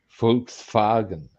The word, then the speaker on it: Volkswagen: There's a um we actually mispronounce uh the um the name of the vehicle. It's actually uh Fuks Faren.